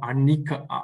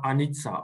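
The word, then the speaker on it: anicca: for example buddhists call anika anitsa or anika is pronounced differently it's basically the impermanence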